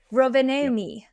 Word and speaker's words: Rovaniemi: and then they went to, and I wanna pronounce this right, it's Rov Rovaniemi? Oh my god. Sure. Yep. Rovaniemi.